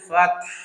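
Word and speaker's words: فتح: সো এটা হলো বড় হার জায়গায় ছোট হা উচ্চারণ করলে এই ভুলটা হবে। সুতরাং আমাদেরকে বলতে হবে ইযা জাআ নাসরুল্লাহি ওয়াল ফাতহ, ফাত, ফাত গলাটা টেনে ধরবে, ওয়াল ফাতহ।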